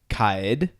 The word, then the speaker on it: Kaid: So a lot of people have been saying Kaid, and then some people say like Kaid. Technically, the pronunciation is Kaid, which is very weird, but that's correct pronunciation.